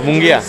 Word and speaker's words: Munguía: Jamie, ¿cómo se pronuncia tu nombre? Jaime. Jaime, sí, pero el apellido. Munguía.